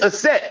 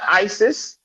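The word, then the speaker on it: Aset: It's a set. It's not ISIS.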